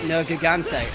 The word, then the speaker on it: Nergigante: Well, I mean, to be fair, they pronounce it Nergigante, and I'm like, that is cursed beyond belief.